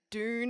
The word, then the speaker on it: Doon: Doon Harrow. What the fuck is Spelt that?